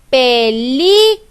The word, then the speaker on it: película: Película. La palabra es película. La sílaba que yo pronuncio con mayor fuerza de voz al decir mi palabra es la sílaba li.